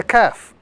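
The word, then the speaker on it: ك: This letter is the letter Kaf. This letter is to be pronounced without any sort of stress or any sort of emphasis.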